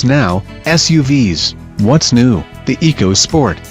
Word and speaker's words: EcoSport: The EcoSport, pronounced EcoSport, is a new subcompact crossover that will be offered in S, say, SES, and top-spec titanium trim.